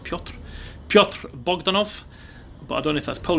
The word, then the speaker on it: Piotr: Obviously Peter, I know Peter in Polish is pronounced Piotr.